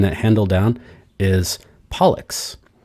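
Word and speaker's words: Pollux: handle down is is pollock which rhymes with bollocks and that's one of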